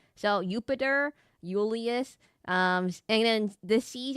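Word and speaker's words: Iulius: you know there's like Ulius Kaisar. Oh, by the way, so there's no J's in Latin. There's no J's in Latin. Everything is pronounced like a I. So uper Ulius um and then the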